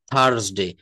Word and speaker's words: Thursday: দ্য 33 thieves, the 33 thieves thought that they thrilled the thorn throughout Thursday, throughout Thursday, থার্সডে।